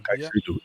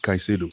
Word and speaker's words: Caicedo: Caicedo. Oh, that's how you pronounce it, Caicedo.